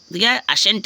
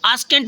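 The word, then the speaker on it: scent: होता है ठीक है जैसे सेंट है सी साइलेंट हो गया इसको स्केंट मत पढ़ना फ्रेंड्स कुछ बच्चे इसको स्केंट पढ़ते हैं स्केंट मैंने देखा है कुछ बच्चे इसको स्केंट पढ़ता है बट यह गलत हो जाएगा फ्रेंड्स यह गलत हो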